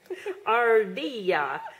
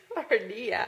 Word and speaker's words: Ardilla: How do you say chipmunk in Spanish? chipmunk. No, it is not. I got you. It is Ardilla. Ardilla. Ardilla. Is the two L's. I can't say them right.